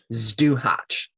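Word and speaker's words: Zduhać: Well, to bring it back around, I gotta say this one is how do I say it again? Stuhatch. So it's spelled Zduhac. Stuhatch.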